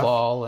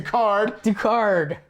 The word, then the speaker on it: Ducard: Duval and Oh, yeah. all the stuff he says. Did I say his name wrong?